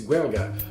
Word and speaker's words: Gaeilge: It's Gaeilge, so this should be, notwithstanding my appalling pronunciations, this cocktail is the Parlez Vous Gaeilge.